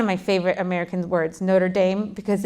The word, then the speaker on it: Notre Dame: like mozzarella you know in America we're like it's Notre Dame it's not notredam it's Notre Dame you couldn't have butchered that word worse anyway Notre Dame Alum